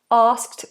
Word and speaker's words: asked: it's an unvoiced posive Ask asked asked he asked me out but I said no she asked